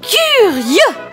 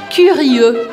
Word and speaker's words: curieux: Curieux. Curieux, curieux. Então, eu te convido a separar sílaba por sílaba para você treinar esse som e ir acelerando au fur et à mesure, aos pouquinhos.